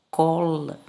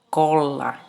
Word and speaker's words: cola: Você vai ler cola, cola. Tá vendo? Cola. Cola é diferente de colar. Entendeu a importância do R no final da sílaba?